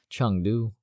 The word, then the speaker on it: Chengdu: Sorry, I keep pronouncing it wrong. It keeps throwing me off. Chengdu.